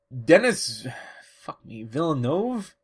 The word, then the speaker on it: Denis Villeneuve: Denis Villeneuve? I think that's how you pronounce it.